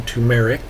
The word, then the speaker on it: turmeric: think i mispronounced it i think i should have said tumeric oh and the turmeric